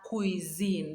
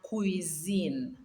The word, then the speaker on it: cuisine: La cuisine. That single S there, we pronounce it as Z. La cuisine.